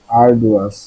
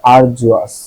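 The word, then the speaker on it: arduous: এটার উচ্চারণ হলো আরজুয়াস। আরজুয়াস মানে হলো শ্রম সাধ্য বা কষ্টসাধ্য বা কঠিন, আরজুয়াস।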